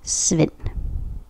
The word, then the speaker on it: Svend: That is how you say it in Danish. Svend.